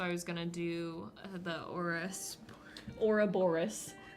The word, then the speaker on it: Ouroboros: So I was gonna do the Ouroboros.